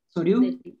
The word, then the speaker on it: Souriau: Que ahí es ¿me pueden decir cómo se pronuncia el nombre, el apellido? Soryu.